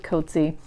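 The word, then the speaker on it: Coetzee: JM KY COA koty I've recently saw that he pronounces it koty his new book called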